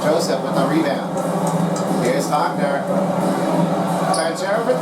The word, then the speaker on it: Wagner: And for those of you who don't know how to say it, it's Wagner. It's a German part of a word, and then you got to make sure you have this one correctly.